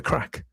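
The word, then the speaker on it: craic: I mean the the crack they spell it differently. C R A I K or no C is C R A I C. Have the crack.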